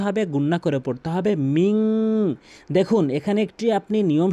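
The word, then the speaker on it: مِنْ: তো এখানে মিং বলতে হবে, অধিকাংশ লোক মিন বলে থাকে।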